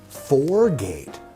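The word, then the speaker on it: Four Gate: And not only is it great, but it rhymes with great. It is 4-Gate Port Peri Peri.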